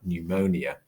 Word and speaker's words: pneumonia: in fact in english that p has never been sounded on a word like pneumonia it's just been added in and this same could